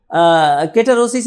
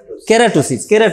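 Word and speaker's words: keratosis: করলাম, is there any কেটারোসিস ইন দি আই। কারণ আমরা জানি কি কেটারোসিস তো বলে নাকি, না কেটারোসিস বলেন, কেরাটোসিস আমি ভুল লিখছি বোধ হয়, না লিখছি ঠিক, উচ্চারণ করছি বল, কেরাটোসিস।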